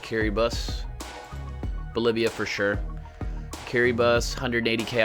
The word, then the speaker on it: Kiribati: Bolivia or Kiribati? Yes, that's how you pronounce that, Kiribati.